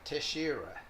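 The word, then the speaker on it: Teixeira: originally from Brazil so I looked on the internet to find out the correct way to pronounce this and it sounded like tashera so it's Angelica to Shira and she won the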